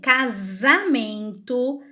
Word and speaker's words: casamento: Então, quando ele está sozinho entre duas vogais, ele vai ter o som de Z. Eu coloquei 3 exemplos também: casamento, asa e casa. Se vocês pronunciarem essas palavrinhas em casa, vocês vão perceber que ao pronunciar, o som sai de Z.